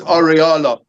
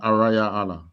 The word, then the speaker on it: Ariala: Can I just give you the pronunciation of my name? Okay. It's Ariala. Ariala. other one. All right. Ariala. It's not Arayala. No, it's Ariala.